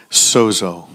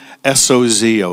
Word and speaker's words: sozo: He came to S-O-Z-O, sozo. It's pronounced with a D.